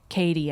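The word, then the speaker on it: Cady: So Regina calls Katie, I think. Katie, that's my ex-girlfriend. But it's spelled like Caddy.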